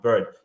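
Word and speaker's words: Byrd: Robert B bird sorry I think that's the way his name is pronounced bird spelled b y r d Senator bird was he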